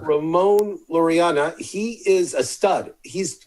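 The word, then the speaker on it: Laureano: lorana loriano loreanna i am our resident uh pronouncer ramon loriana he is a stud he's when he comes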